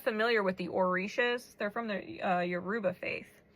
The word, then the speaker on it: orisha: If you're not familiar with the orishas, they're from the Yoruba faith. The orisha, it's spelled O R I S H A and